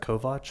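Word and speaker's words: Kovach: Yes, my name is Brett Kovatch and the last name is spelled K O V A C H and business address is 100 St.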